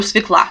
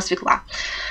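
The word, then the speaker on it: свёкла: боже, готовим с мужем, я говорю свекла, нам нужна свекла. А на самом деле это свекла.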